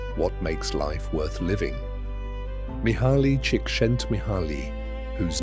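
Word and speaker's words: Mihaly Csikszentmihalyi: Mihali Chickik Shent Mihali whose name he once said is pronounced roughly like Mihi cheeks sent me began his research not with a theory but with a curiosity about joy.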